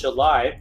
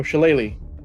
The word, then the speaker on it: shillelagh: After consulting the great minds of my patron, as a bonus action, I'm going to cast Shalai on the quarterstaff that I've been walking on this whole time. Oh, Shillelagh.